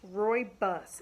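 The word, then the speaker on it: Rooibos: the next ingredient is called green Rory it's pronounced Roy bus it's spelled Roo I be us Nate to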